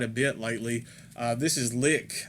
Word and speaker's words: LIK: bit lately this is lick i believe that's how you pronounce it it might be like but with a mass funeral